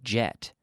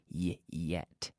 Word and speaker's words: yet: word yet and saying don't say don't say jet but say yet yet okay so have I